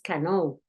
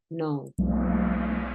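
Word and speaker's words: know: La K no suena, no dices cano, dices no.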